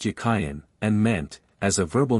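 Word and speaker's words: Jachin: of the two names the word Jain in Hebrew is Hebrew it was probably pronounced yayen and meant as a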